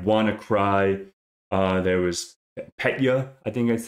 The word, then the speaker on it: Petya: There was Petya, I think that's how you say it, P-E-T-Y-A.